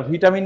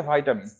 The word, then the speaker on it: ভিটামিন: অবাক হবেন আমি উচ্চারণটা ভিটামিন না বলে ভাইটামিন কেন উচ্চারণ করতেছি আসলে এটা সঠিক উচ্চারণটা হচ্ছে ভাইটামিন যদিও আমাদের দেশে এবং